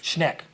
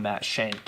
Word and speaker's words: Schneck: Schneck. Thank you. Yes. Awesome guy. Funny story with that. On BYU Sports Nation today, Jerem pronounced his name Matt Shank, and then Colton said he just butchered the pronunciation.